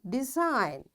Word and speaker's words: design: G is silent when it comes before N.